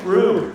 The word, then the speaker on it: Rue: See, not woo, Rue. Who said woo? No, it's Rue.